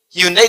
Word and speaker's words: Hyundai: Hyundai dibacanya Hyundai.